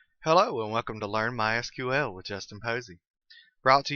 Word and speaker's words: MySQL: First, a quick aside about pronunciation. As you can tell, I've been calling it MySQL. That is the correct pronunciation. However, it is also commonly called MySQL. If you hear it called that, don't be confused. It's the same thing.